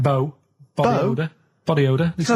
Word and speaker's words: BO: It's not pronounced bow and it's not spout bow. Um who calls it bow? Everyone knows it's bo.